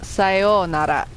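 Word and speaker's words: さようなら: Well, sayonara. You have to pronounce the oo.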